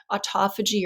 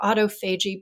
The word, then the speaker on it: autophagy: a really crucial process called autophagy or autophagy both pronunciations are right that just means um